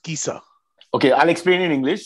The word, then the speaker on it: Chiesa: all words where C is followed by HE or HI is hard. Okay. So Okay. CHIESA is pronounced Kisa.